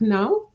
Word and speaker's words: nos: And I noticed that the two of you, you say nos. N-O-S is no, okay? The S is silent.